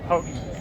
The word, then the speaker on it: Houghton: H-O-E-T-I-N. I told him to make a shirt of that. And, you know, I'm Michigan, so I don't even pronounce the T. It's just Houghton. Houghton.